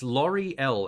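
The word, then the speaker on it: Lauri-Ell: I'm not sure how I think it's pronounced it's Lori L as in a l a u r i Dash e-l-l it's basically the uh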